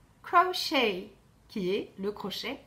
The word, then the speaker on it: crochet: celle qui est le crochet en anglais crochet ya il ne prononce pas le tc un crouch auteur ou